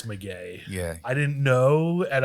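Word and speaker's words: Del Maguey: Listen, I'm all about trying to pronounce things as correct as possible because I got flamed for how I said Del Maguire. Oh my God. It's McGay.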